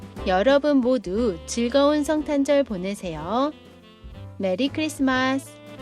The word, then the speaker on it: 메리크리스마스: Actually, You can say 'Merry Christmas, but in Korean pronunciation.